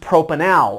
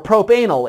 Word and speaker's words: propanal: So that is pronounced propanal, or propanal if you're emphasizing the wrong syllable.